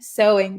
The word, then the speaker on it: sewing: a knack for sewing sewing pay attention to that pronunciation of sewing uh he has a